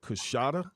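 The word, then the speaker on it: Coushatta: Served as CEO of Gut Check basketball camp, camps serving is that Coshada tribe in Louisiana?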